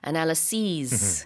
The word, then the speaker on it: analyses: 이제 복수 형태일 때는 뒤에 is가 아니라 es로 바뀌어서요. analyses 이렇게 발음이 되고 단수일 때는 is로 끝납니다. analysis Yep.